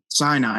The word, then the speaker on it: Sinai: Did I pronounce that right? Mount Sinai. Sinai.